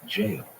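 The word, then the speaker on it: gaol: the Old Stone jail usually spelled g a o l but pronounced jail was an institution of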